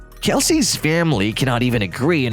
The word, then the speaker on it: Kelce: in the past pronounced it as Kel the Kelsey pronunciation came out on top after Travis and his